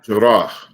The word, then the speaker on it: Jarrah: Jarrah.